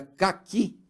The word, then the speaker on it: caqui: Se eu tenho, por exemplo, a palavra, a fruta chamada caqui, ela também tem duas sílabas. E a sílaba mais forte é a última, não é caqui.